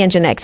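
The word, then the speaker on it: nginx: this more important the engine X if you don't know what engine X is it's spelled I for some strange reason is spelled n g i n x uh it's an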